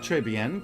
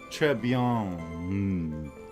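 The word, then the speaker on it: très bien: no that's all we need champion it's not trey bien because uh you don't pronounce consonants at the end of french words so it's more like trebian like the n is just more of a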